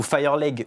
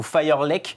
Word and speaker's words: Fireleg: Bompara Kouyaté, alias Bambi ou Fireleg ou Firelek, parce qu'en Thaïlande, apparemment, c'est lui qui le dit, ils ont du mal avec le G, ils prononcent le K.